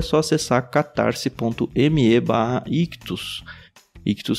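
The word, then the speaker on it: Ichthus: Ictus se escreve I-C-H-T-H-U-S.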